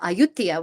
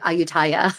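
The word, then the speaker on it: Ayutthaya: Um but you know we went to uh Aayutia which uh looks like Aayutaya if if you look at it in how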